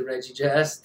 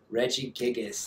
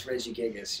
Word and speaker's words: Regigigas: You need the Regigas? Dang, it's kind of tough to put that deck together without it. Regigigas, that's it. I never pronounce it right. I always say Regigas. No, it's Regigigas.